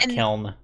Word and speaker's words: kiln: It sounded like you said kill, not kiln. A kiln.